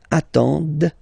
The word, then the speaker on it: attendent: And the last one, same thing, classic ending for il, elle at the plural form, ENT, but then you don't pronounce them. Ils attendent, okay, so remember you get to pronounce this, d at the end, okay.